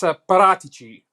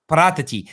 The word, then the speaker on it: Paratici: It's Paratici. Paratici. See, that's hard to say. Yeah. So in Italian, CI is pronounced chi. So chi. Paratici. Paratici.